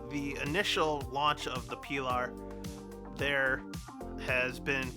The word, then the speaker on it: Pilar: So Pilar in Spanish, Pilar, and that's the reason why I mispronounced it, because people weren't pronouncing it correctly in the first place.